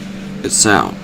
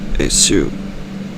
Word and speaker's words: Esau: So they named him Esau, or Esau. They spell it E-S-A-U.